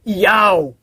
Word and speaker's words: Yahweh: O nome do Pai, e é do hebraico, Yod, Re, Vav, Re, o qual aparece 6.828 vezes nos originais hebraicos, transliterado para YHWH, pronunciado por Yahweh, foi substituído por Roma pela palavra Senhor.